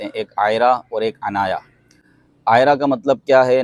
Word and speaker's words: عنایا: بھی بڑا وائرل ہے۔ عنایا کے بھی دو تلفظ ہیں، عین کے ساتھ اور الف کے ساتھ۔ الف کے ساتھ عنایا